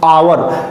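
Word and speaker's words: hour: उसी तरह दूसरा वर्ड देखते हैं, आवर, एच से शुरू जरूर हुआ है, लेकिन इसका उच्चारण हा से ना होकर के आ से हो रहा है।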